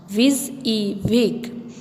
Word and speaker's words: WYSIWYG: Next WYSIWYG feature, pronounced WYSIWYG.